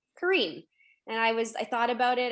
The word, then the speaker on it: Karim: Growing up, I said it Karim. And they said, well, I would look at it Karim and I would say Karim.